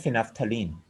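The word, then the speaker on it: phenolphthalein: तीसरा आपका इंडिकेटर कौन सा है, फिनाफ्थलीन, ठीक है। इसको फिनोल फिथालीन की फॉर्म में स्पेलिंग है, लेकिन लफ्ज ये फिनाफ्थलीन, PHENOL PHTHALEIN फिनाफ्थलीन।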